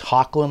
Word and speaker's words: Hoechlin: Tyler, I don't know if it's Hoechlin, I think is the way he pronounces his name, and Elizabeth Tulloch.